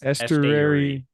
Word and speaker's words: Esteury: Estuary. Estuary Ruiz.